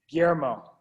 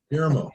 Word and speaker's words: Guillermo: by Gail Peterkin, and this is her 2-year-old Guillermo, if I'm pronouncing that correctly. And this is by Tata times Anna. So we'll go ahead and It's Guillermo. Guillermo.